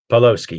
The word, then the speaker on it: Pawlowski: Am I saying it right, sir? Pawlowski? Or was it Pawlowski? Pawlowski, yes.